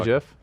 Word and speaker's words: GIF: can see what 're you say GIF yeah it's pronounced GIF he he no he it's